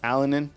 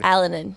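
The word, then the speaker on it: Alinen: uh you have Olas alenin did I get that right yeah Olas alenin yes we we we had been saying alen but if you look to the University's pronunciation guide alanin alanin so we got kilic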